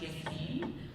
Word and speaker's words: Jasmin: Hi, my name is Jasmin, and if you're Middle Eastern, it's pronounced Jasmin.